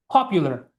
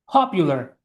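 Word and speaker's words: popular: পপুলার। পপুলার। এই সাউন্ডটা হচ্ছে আপনার একদম এক্সপ্লোসিভ। বাতাস মুখ থেকে বের হইতে হবে।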